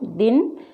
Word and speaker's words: दिन: दिन, मिल, पिता। तो छोटी ई की मात्रा पर ज़्यादा वजन नहीं दिया जाता है, इसे इस तरीके से पढ़ा जाता है।